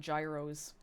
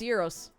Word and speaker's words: gyros: Ah, this person pronounces the G in Yuros. They're like, "Oh my god, I love eating gyros." Oh, is that not how you say it? No, it's Euros now.